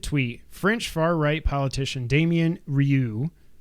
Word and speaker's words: Damien Rieu: In a now deleted tweet, French far-right politician Damien Rieu, not Ryu, R-I-E-U, that would be Ryu. How do you spell it?